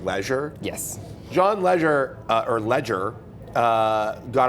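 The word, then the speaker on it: Legere: T-Mobile's name as John leir yes it's apparently John Ledger leder yes which sounds frighteningly similar to John Legend right and both of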